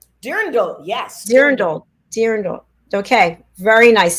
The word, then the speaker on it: Dirndl: Dirndl? Dirndl, yes.